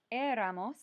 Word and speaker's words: éramos: The nosotros form is éramos with an accent on the E.